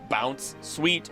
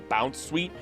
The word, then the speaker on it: Bounsweet: around everywhere it goes, hence the proper way to say it being Bounsweet or Bounsweet, it's mistaken for being happy and playful all the time.